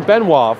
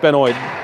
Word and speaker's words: Benoit: I was saying Benoit. Of course, it's pronounced Benoit. The one time it's not the French pronunciation.